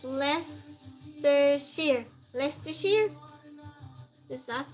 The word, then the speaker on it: Leicestershire: It's pronounced Leicestershire.